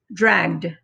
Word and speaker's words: dragged: vibration so it's voiced when it's voiced it makes the d sound the e is still silent so it doesn't add another syllable we just say dragged okay this is the